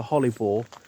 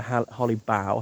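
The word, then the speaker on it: Holly Bough: That's why the holly boore or the holly bow, however you want to pronounce it. B O G H.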